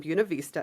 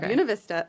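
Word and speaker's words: Buena Vista: We went down to, um, Buuna Vista. It is pronounced Buun Vista, spelled Buav Vista. Don't ask me. Nope, not Buena. Uh, Buuna Vista.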